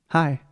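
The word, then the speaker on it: high: hi hi yeah perfect exact same pronunciation as like hi like oi hi hi as a kite hi as a kite but in this case we write hi with the GH at the end so h i g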